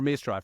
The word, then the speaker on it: Maestro: vasu pratapa co-founder of maestro QA is it Maestro or mestro I should have asked you that when we